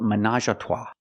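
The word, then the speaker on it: ménage à trois: Pronunciation manage. Again, we have the a sound at the end. Minajata. There's even a brand of wine with this name. And we pronounce it managatua.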